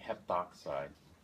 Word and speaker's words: heptoxide: And so this might be pronounced dichlorine heptoxide. Drop the A.